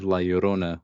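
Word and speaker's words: La Llorona: Conjuring obviously, and then they have Laorona, which is how you say that in Spanish.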